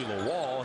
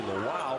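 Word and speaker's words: Lual: So those of you who follow the Rams know him as Toby Lwal. He is Toby Lew because that's the way he prefers the pronunciation and we're happy to oblige as well.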